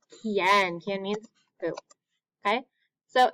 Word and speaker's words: quién: So QUI, it sounds like the word key in English, key, okay? A word we know with QUI is quién.